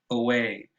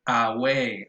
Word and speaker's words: away: Of course, the stress is on the second syllable, but the first syllable is so unaccented, it's so weak and so fast that it is pronounced away.